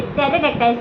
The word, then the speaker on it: pterodactyl: तो यहाँ तो पी भी आ रहा है बट पी ना होके टेरेडेक्टाइल्स एग है। क्यों? क्योंकि पी साइलेंट है।